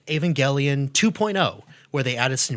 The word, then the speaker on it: Evangelion: Ryan, I once saw an Evangelion poster in your wall in an old video. Did I say that right? Evangelion. Hard G.